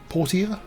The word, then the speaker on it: Portia: I was wondering, how do you say that even? Is it Portia? Portia? And apparently it's the second, so we'll go with that.